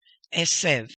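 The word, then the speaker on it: עשב: This is an accent mark. Therefore, this is the emphasis right here. Esev, mazria.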